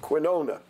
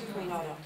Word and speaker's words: quinoa: Last year, for instance, or the last few years, you have the question of quinona, which is a... In Hebrew, it's quinoa.